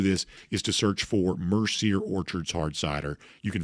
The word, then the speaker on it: Mercier: Enjoy yourself some Mercier Orchards hard cider. Best way to do this is to search for Mercier Orchards Hard Cider.